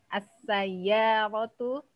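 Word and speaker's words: سيارة: Sayya di sini ada tasdid huruf ya-nya. As-sayyaratu sari'atun.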